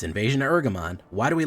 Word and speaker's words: Ergamon: up I I I I feel like I'm mispronouncing it by saying eramon cuz it sounds like bergamont but nope it's invasion of eramon why do we like